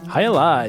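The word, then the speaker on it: Jai Alai: Hyali, not to be confused with Miller High Life.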